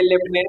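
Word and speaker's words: lieutenant: kayak थे तो ये लेफ्टिनेंट कर्नल है एक बात और लेफ्टिनेंट का स्पेलिंग देख लीजिएगा ध्यान से लेफ्टिनेंट लिटनेट लिखाता है लेफ्टनंट पढ़ा जाता है कर्नल की क्लोनल होता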